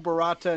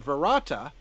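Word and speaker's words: Barada: Earth stood still, but a slight variant in which he pronounces the second word Varata. Apparently, this is intentional, as the wise man is also heard saying the words this way when instructing Ash on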